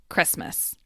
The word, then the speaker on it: Christmas: these words and expressions the T in Christmas disappears to become Christmas the d in sandwich